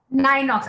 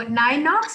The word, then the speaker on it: Ninox: n-i-n-o-x how do we pronounce it uh it's pronounced as nine odds nine knocks i knew i was doing something wrong okay so nine knocks which is you know it's a pun so